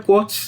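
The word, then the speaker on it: Koch: It's also called कोच disease. Some people pronounce it एज COX disease.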